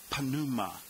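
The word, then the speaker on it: πνεῦμα: or Alone number 14 panuma now there are no silent letters in Greek so you need to pronounce both the p and the N whereas in English we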